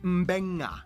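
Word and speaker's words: Beqa: And just remember, in the Fijian alphabet, C makes the th sound, D makes the nd sound, B makes the mb sound. Both Q and G make the ng sound. Therefore, the town of Nadi is actually pronounced Nandi. And this word is pronounced Mbenga.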